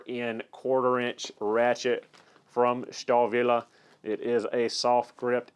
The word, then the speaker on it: Stahlwille: I do know that w's are normally pronounced as V's so looking online for pronunciation from native German speakers everywhere I've looked it has been pronounced star Villa so we're gonna call